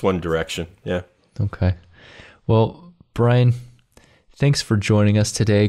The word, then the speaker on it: Bryon: is spelled b-r-y-o-n uh it is not byron it is brian but uh brilliant brian